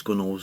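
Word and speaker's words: gunwales: constantly cruising is is gunnels gun walls gunnels and I pronounce that are constantly scratched so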